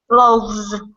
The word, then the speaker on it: loaves: been learning for example loaf now we're going to change it to a v sound loaf of course is a is an unvoiced sound F it's onvo V is a voice sound so of course V's voiced so how am I going to pronounce the plural one loaf of bread two loaves loaves yes very very good